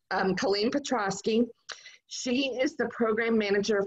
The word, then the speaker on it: Colleen Petrosky: It's Colleen Petrosky.